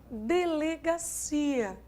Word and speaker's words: delegacia: Se eu tivesse, por exemplo, a palavra delegacia, pronuncia comigo, delegacia, delegacia. Quem é a tônica dessa palavra? Si. Então, o que você percebeu? Que a sílaba tônica da palavra recaiu no interior do encontro. Vamos escrever aqui. Olha só o que eu tenho. De, le, ga, si, a. O que você acabou de notar? Que a tônica é o si.